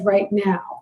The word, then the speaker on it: Reichenau: long time was because a lot of people pronounce it as right now and i thought kendra